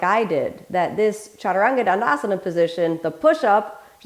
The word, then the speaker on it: chaturanga: the whole body let's start off with the pronunciation repeat after me chaturanga foreign position or fourth position as the traditional